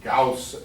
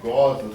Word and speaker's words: Gause: For years I've been pronouncing it Gause, and he hasn't corrected me until last night at dinner. It's Gause. Why it's Gause, I have no idea, but that's what he claims.